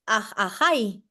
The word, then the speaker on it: Ajay: Ajay. Ajay. Ajay. Ajay. Ajay. Como si fuera H, como la letra. H.